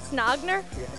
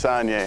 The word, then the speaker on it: Saunier: Ben Snogner. What was that? Snogner. It's Saunier.